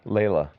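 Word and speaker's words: Laila: Layla. Oh, it's just Layla? Uh-huh. It's spelled a little weird.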